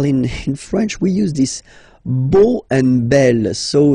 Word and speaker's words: beau: So remember this a, u combination of vowels only give you the sound o, beau, okay?